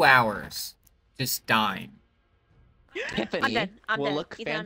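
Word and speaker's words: Tyffoni: My character's name is Tiffany, but it's spelled T-Y-F-F-O-N-I.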